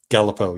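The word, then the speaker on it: Galipeau: Apparently, they've got wasn't Gallipo the warden from Westville? Gallipo, yes.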